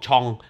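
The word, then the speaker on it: genre: เนี่ย น่า จะ พ่วง ชอง ชอง คือ แนว อ่ะ นะ ครับ ผม ออก เสียง เป็น ฝรั่งเศส ผม เรียน แล้ว ถูก สอน มา เว นี้ นะ ครับ ก็ เลย ใช้ คำ นี้ โอเค อิม ชอง ที่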